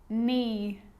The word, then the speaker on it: knee: A K is not pronounced when it comes before an N, like knife, no, knee, knock, not, knowledge.